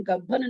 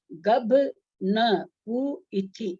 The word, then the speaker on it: गभ न पु इथि: गभ माने गर्भज, न माने नपुंसक, पु माने पुरुष, इथि माने, इसलिए इसका उच्चारण गब्भन नहीं होगा, गभ न पु इथि ऐसे होगा उच्चारण।